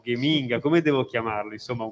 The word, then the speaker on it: Geminga: con le parole eccetera questo gen inga letto con alla tedesca diventa gaming a perché i tedeschi gec la pronunciano sempre duri e e quindi gaming